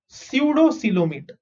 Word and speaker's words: pseudocoelomate: Last type is pseudocoelomate. Okay. How do you pronounce this? Again, यहाँ पे दो letters silent. Okay. P is silent and O is silent.